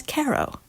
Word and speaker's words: Cairo: at this very minute because they pronounce the town's name as Cairo.